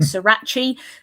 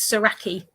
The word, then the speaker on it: Saraki: Saraki and also that we pronounce it right because I hear a lot of people saying Srirachi that's not it that's a hot sauce. Um and yeah, so it's it's Saraki.